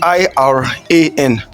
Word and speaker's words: Iran: Now, anyone knows how to pronounce the country Iran? Anyone? Iran.